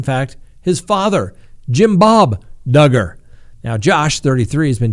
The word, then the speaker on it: Duggar: their cases wrapped up josh duggar rhymes with hugger appeared in federal court